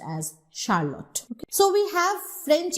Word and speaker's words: Charlotte: But when you have the feminine of Charles, that is Charlotte, see, you are using it as Sh.